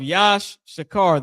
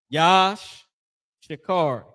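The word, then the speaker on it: יִשָּׂשכָר: The tribe of Yash Shakar, their name in in uh means he is higher. Yash Shakar. He y at the front, he is he is higher, right? Yash Shakar.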